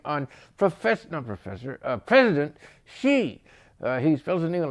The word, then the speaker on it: Xi: and yet they have a president whose name is she who's a he and pronounce his name XI now if that ain't